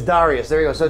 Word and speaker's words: Dareus: It's spelled with an E, not an I, so it's Dareus. It's Dareus.